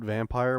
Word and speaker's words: Vampyr: mentioned a vampire game it's spelled with the Y but they call it vampire which pisses me off